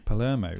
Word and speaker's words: Palermo: how do you pronounce the surname of yours? Palermo.